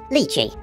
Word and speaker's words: Lychee: Belgian in origin and they pronounce the name of their software lychee I have to respect for them that's how it will be pronounced throughout this video hey guys I was